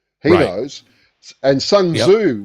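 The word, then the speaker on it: Sun Tzu: And Sunzu will tell you the art of war or Shunza if you use the proper um Chinese pronunciation.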